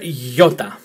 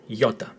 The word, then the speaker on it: iota: Ninth letter is letter iota, as in Toyota, iota.